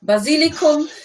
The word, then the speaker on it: Basilikum: The pronunciation wasn't almost there. Basilicum.